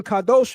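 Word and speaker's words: קדוש: The pronunciation kadosh means holy.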